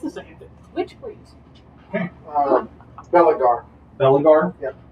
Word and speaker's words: Belagar: Belagar. Belagar? Yep. Spell it?